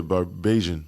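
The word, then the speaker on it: Bajan: How do you say Barbados? Yeah. Beijian. Beijian. That's what they call it. Beijian.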